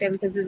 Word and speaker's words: emphasis: Although we already know that emphasis is a noun. So we'll mark it on the first and that is okay.